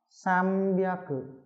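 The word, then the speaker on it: 三百: Thì chữ N này đứng trước với chữ B, có phần B ở đầu thì đây. Bia cử thì đương nhiên là nó sẽ đọc là M. Sam bia cử.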